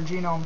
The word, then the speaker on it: GNOME: in Fedora 15 under genome 3. Uh, I refer to Gnome as genome because it stands for GNU network object model environment and anything by GNU, I pronounce the G by name.